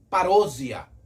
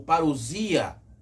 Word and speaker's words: parousia: Fala de parousia ou parousia. Isso da maneira que você quiser se expressar ou se comunicar a palavra.